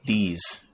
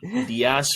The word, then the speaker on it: Deas: But his name, Yank Dees. Stop it. No. Yeah. Yeah. Oh my God. Yeah. May be able to pronounce Diaz or something like that because it's Deas, but it's Yank Dees.